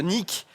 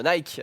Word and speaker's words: Nike: Polémique hein, de Nick, enfin de Nike, si je le prononce.